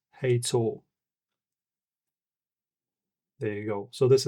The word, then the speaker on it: Hator: As you can see, we have a pink one that says Gator. Oh, sorry. Heytool. Sorry. I'm not used to pronouncing this.